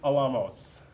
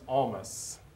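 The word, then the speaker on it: Olmos: sorry you didn't save your birthday present jessica how old is edward james alamos and i probably said his last name wrong because i can never remember almost edward james almas that's how you say it that's a good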